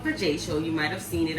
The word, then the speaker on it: Vajacial: A lot of people be calling it vagical, or you know, a hard time pronouncing it, but it's called Vajacial.